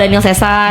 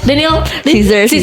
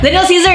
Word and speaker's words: Daniel Caesar: Oh, berarti kamu senang banget sama Daniel Cesar banget. Yurinita. Danil Cesar. Heeh. Eh, eh Daniel Caesar. Salah Cesar mah ternyata salah gue ya. Daniel Caesar ya bacanya.